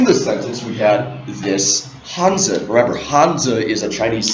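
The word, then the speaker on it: Hanzi: that one symbol again or hanza we say hanza in Chinese one hanza represents one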